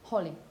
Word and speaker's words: Holly: in this case because you have just one vowel letter and a consonant cluster you use the short vowel Holly okay what would happen